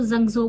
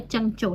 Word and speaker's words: Zhengzhou: इसका नाम है चंचोल हम पाकिस्तान में थे तब हम इसको जंजो बोलते थे लेकिन एस बेसिक जो इसकी प्रोनाउंस है वो है चंग चो ठीक है तो चंचिया